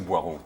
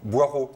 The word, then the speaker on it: Boireau: Vous représentez le Boileau ou Boireau ? Boireau. Boireau, j'avais donc bien prononcé.